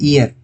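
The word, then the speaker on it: hour: तो यहां पर जो ईयर लिखा हुआ है इसको हम पढ़ते हैं ईयर। हिंदी में जब पढ़ते हैं तो हम इसे पढ़ते हैं ईयर। एच यहां पर साइलेंट होता है।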